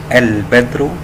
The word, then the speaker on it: البدر: والميم والهاء والواو والياء نطقها ننطق ال القمريه كمقطع صوتي مستقل ويتم تقطيعها وحدها كما نضع عليها السكون مثال ذلك كلمه البدر نقوله في تقطيعها ال بدر فال جاءت مقطعا صوتيا مستقلا قائما بذاته واللام موضوع عليها السكون نريد ان نقوم بتقطيع